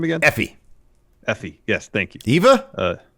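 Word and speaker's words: Effy: that's really good oh yeah uh valkyrie i pronounced her first name again effie effie yes thank you eva uh eva no it wasn't eva effie ether ifa valkyrie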